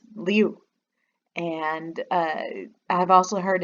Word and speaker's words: Liu: short kind of like liu and in fact some of them not like you like i over pronounce the u but kind of just liu and uh i've also